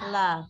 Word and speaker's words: laugh: Love. Love. Ya, love. Ini bacanya love, bukan lau ya, bukan lau, bukan.